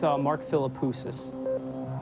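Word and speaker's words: Mark Philippoussis: I think it's Mark Filipus. That is the correct pronunciation and the correct person.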